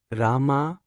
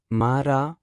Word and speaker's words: Rama: the highest order by reciting the name of the god, Rama, as Mara, for number of years, as he was not even capable of correctly pronouncing the name Rama.